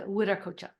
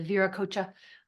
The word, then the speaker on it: Wiracocha: uh you can spell any way but we pronounce it wi coocha I hear people online talking about the ver coocha uh I don't think that's really how it's